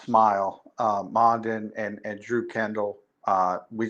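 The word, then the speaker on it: Smael: Mondin, it's pronounced Smile.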